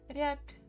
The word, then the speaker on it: рябь: bit easier sound, P, рябь, рябь, рябь. So we write B, but basically when we pronounce it may sound as P a little bit.